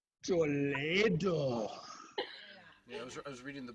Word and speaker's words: Toledo: Oh, I thought it was Toledo. No, it's pronounced Toledo.